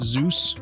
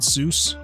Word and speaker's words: SUSE: Cameron says, yeah, I installed it on my OpenSUSE, pronounced Zeus, not Seuss. Oh, I've always pronounced it Suse. Maybe that's wrong.